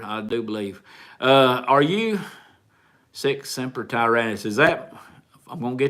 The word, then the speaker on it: Sic semper tyrannis: Are you Sic Semper Tyrannis? Is that, I'm going to get this wrong, and don't shoot me. Or is that Marines? I believe it is. I believe that's Marine Sic Semper Tyrannis.